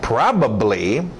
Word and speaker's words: probably: Probably, batido no A, probably.